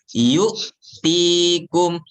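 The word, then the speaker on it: يُؤْتِيكُمْ: Yang kedua, ketika huruf hamzah sukun sering dibaca terpantul, padahal huruf hamzah bukan qalqalah. Ya, contohnya yu'tikum, yu'tikum, ya, terpantul ya. Kalau di sini kita baca terpantul. Betul salah? Ya, cara bacanya bukan bukan, tapi yu'tikum.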